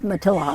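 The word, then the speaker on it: Matilija: Matilaha, yeah.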